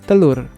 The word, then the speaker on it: telur: the Indonesian or Malay word for egg is talur in Malay it's even pronounced as talu which sounds even closer to